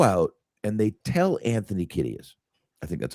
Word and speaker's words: Kiedis: So they go out and they tell Anthony Kiedis, I think that's how you say his name. Kiedis, yeah.